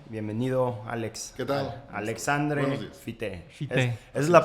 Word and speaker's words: Fité: Alexandre Fite, esa es la pronunciación correcta.